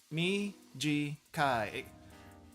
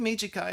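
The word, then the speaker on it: 短い: Mijikai. I think Mijikai is kind of has an interesting pronunciation because if you just remember the short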